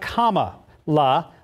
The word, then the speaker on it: Kamala: Yeah, the vice president-elect, Kamala Harris, she explains in her biography, say it like Kamala, like the punctuation mark, comma.